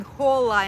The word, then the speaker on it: hola: but he keeps saying hola instead of hola hola yeah you have to say hola because the Archie is not pronounced in the in the letter and hola and he's